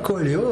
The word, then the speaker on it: Coelho: Je prononce bien ? Pas mal. Comment on dit bien ? Pas mal, Coelho.